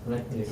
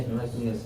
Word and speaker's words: Heraclius: Heraclius, yeah, Heraclius, yes.